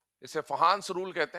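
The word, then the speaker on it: Fajans: इसे फहंस रूल कहते हैं। है ना? स्पेलिंग के हिसाब से फजानंस दिखता है। बट फहंस रूल कहा जाता है।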